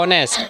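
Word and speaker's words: honest: আচ্ছা, অহন কও, শি is dash, allergy নষ্ট করিলাম নাক, হি ইজ ড্যাশ কেতে অনেস্ট, এইচ ও এন ই এস T, Hossain, N কেন, এইচ সাইলেন্ট, উচ্চারণ হয়েছে কিতা অনেস্ট, ও আইছে কিতা হইব এন।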